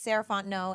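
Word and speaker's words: Sarahfont: again my name is saraon and you can find me at Ms sarant no so MSS r a h f o n t n o t the t is silent um that's me on all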